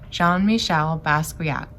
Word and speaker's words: Jean-Michel Basquiat: the artist jean-michel basquiat we say his name john michelle basquiat he's a very famous